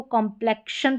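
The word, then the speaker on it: complexion: इसको कॉम्प्लेक्शन पढ़ेंगे, कॉम्प्लेक्शन। तो यहाँ पर भी आधा क और श प्रोनाउंसिएशन हो रहा है एक्स का, ये देखिए यहाँ पर।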